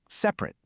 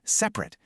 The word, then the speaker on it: separate: On the left, you've got the adjective, which we say like separate. That just describes something, a state of being. And on the right, that's the verb pronounced separate. That's an action. You're actually doing something. Same exact spelling, but different sounds and totally different jobs.